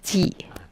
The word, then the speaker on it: 忌: 种子日的发音呢是 The sound 忌 of the sixth syllable is ji.